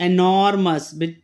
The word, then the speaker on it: enormous: देखिए यहाँ पे र जो है बिल्कुल साइलेंट है.